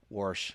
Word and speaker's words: Warsh: Warsh. Well, nailed it. Yeah. One syllable, nailed it.